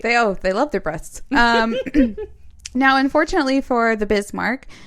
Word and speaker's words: Brest: Okay, so Brest. Breast. Back to breast. It's spelled Brest, so.